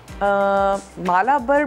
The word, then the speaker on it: Malabar: और हम इसके लिए तैयार करने जा रहे हैं, और स्पाइसी मालाबर भी इसको कहा जाता है, मलबार भी कह सकते हैं, मुख्तलिफ प्रोनाउंसिएशंस हैं।